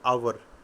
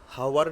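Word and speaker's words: hour: एच यद silent है आवर एक घंटा को हम क्या बोलते हैं हावर नहीं बोलते हावर बोलोगे तो वो प्रोनंसिएशन गलत है आवर साइलेंट है तो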